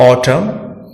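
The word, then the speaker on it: autumn: अगर बात एन की करें तो एन तब साइलेंट रहता है जब यह वर्ड के अंत में एम के बाद आता है, जैसे ऑटम और कॉलम।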